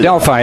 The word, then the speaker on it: Adelphi: I don't even know how to pronounce that. Adelphi University. Adelphi, there you go.